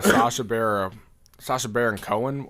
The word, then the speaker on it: Sacha Baron Cohen: I want to get into the Sacha Baron Cohen.